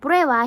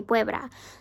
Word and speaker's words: prueba: speak Spanish, because him, instead of saying prueba, he would say puebla.